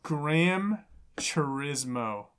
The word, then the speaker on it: Gran Turismo: It's Gran Turismo.